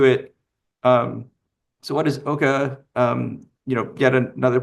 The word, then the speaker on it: OCCA: You might hear me use the Canadian pronunciation sometimes of Oka. So, I apologize for that uh in advance. So, I'll get to it. Um so, what is Oka?